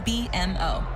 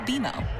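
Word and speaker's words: BMO: when you do I bet you'll call us BM o don't worry it's more common than you think but we actually pronounce it beo as in with beo you can earn a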